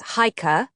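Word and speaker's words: Chajka: Hika Klinger pronounced in English as Hikah a leader of the young guard and the fighting organization in Benjin.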